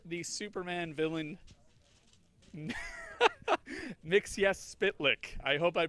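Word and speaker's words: Mxyzptlk: 459 Lexington Avenue and say the Superman villain mix yes spit lick I hope I pronounced that right if not it doesn't really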